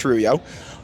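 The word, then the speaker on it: rujo: wallet or even moner Rubio r-u-j-o but it's pronounced ruyo um those both let you keep your view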